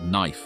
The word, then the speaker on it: knife: of pronunciation for example words like knife and Knight retained the K even though the K was no longer being pronounced William caxton's Legacy in